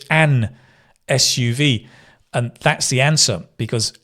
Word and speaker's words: SUV: So we say an SUV. You say a sport utility vehicle, but an SUV, because S is like, it begins with a vowel sound.